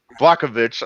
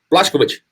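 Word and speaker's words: Błachowicz: He's going to, you know, but Blakovic. I'm terrible at names. Help me out, Jeff Houston. Blakovic, is that right? Is that how you No, no, pronounce no, it? no, no. Let's see. Oh no. Blashkovich.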